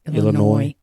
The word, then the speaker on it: Illinois: was born in libertyville illinois am i supposed to pronounce the s at the end of illinois no i think it's just illinois okay sorry about that